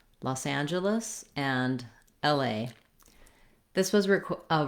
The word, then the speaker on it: Los Angeles: is uh the stress falls on the and syllable los angeles which means the other syllables are going to go by quickly los angeles so you want your length and your clear